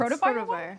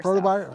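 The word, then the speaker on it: Protovyre: Protovire. Protovire. Protovire?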